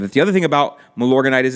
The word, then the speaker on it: Milorganite: It's funny, Justin pronounces it Milorganic, which I think is cool. Milorganite is what he's referring to, and I prefer to